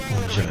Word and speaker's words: Guangzhou: How do you pronounce it again, Greg? Which one, sorry? Guangzhou. Guangzhou, thank you.